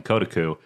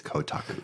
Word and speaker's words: Kotaku: on a website that I was calling Kotaku that Brad just informed me is Kotaku.